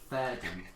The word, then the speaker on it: Fayredon: Fayredon. Fayredon. It's spelled like Fayardin, but it's pronounced Fayardin. Like ye old fair.